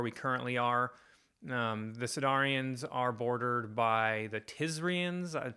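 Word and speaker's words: Sydarin: start off with is a sedarian um I guess that's how you say it properly s yd a r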